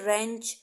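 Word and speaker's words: wrench: सकते हो ठीक है रेंज डब्लू साइलेंट रहता है और ऑरेंज करते हैं हम इसको रेंज पढ़ते हैं ठीक है मैं आपको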